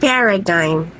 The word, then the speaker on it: paradigm: nush nush Sovereign Sovereign how about this word Paradigm paradigm